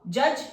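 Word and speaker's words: judge: Up, bunch अ, फन, फ के बाद जज, ये डी तो हमारा साइलेंट है।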